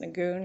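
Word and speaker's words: Nguyen: based on the argument i'm going to pronounce the case win because that's how i was told it was pronounced nagoon i don't know n-g-u-y-e-n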